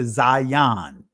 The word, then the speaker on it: Zayin: Some would say Aleph Bet, that's the Israeli pronunciation. But this is what is called the Zayin.